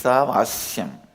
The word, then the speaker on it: Ishavashyam: Listen, my pronunciation Ishavashyam is also Padabeta. How I heard from my masters, I am repeating, but actually it is Ishavashyam. Ishavashyam is not Vashya.